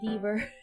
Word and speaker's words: Deaver: heard of the Deaver, I thought it was beaver at first, like the animal beaver, like how you spell it. Until I realized, wait, it's not beaver, it's Deaver.